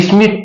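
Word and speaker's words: Schmitt: ये SCH जो होता है ना, ये साइलेंट रहता है, इसको हटा दीजिए। स्मिथ पढ़िए, कोल्बे स्मिथ रिएक्शन। ठीक है ना, इसको पढ़ेंगे तो आपको दिक्कत हो जाएगी। और यहां से ये टी के आगे जब भी डी आए इसको हटा दीजिए। जब इसको डी को साइलेंट करेंगे और CH को साइलेंट करेंगे तो स्मिथ हो जाएगा।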